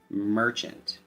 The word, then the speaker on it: merchant: meaning from the word, merchant. Instead of the short A sound, we use the schwa short U sound.